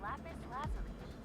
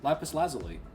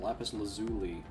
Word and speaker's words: lapis lazuli: This idol seems to be made of lapis blasphemy. And this one's on the sight. She said it right that time. Lapis lazally. She said it wrong that first time. Lapis lazuli.